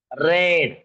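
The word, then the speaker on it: read: फक्त प्रोनन्सिएशन कस बघा रीड रेड रीड अस आहे मग आय रेड ते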